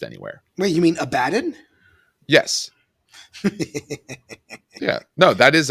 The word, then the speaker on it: Abaddon: I don't know if this has been pronounced anywhere. Wait, you mean Abaddon?